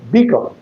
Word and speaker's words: beacon: Beacon. Beacon. So the accent must be on B and con remains unaccented.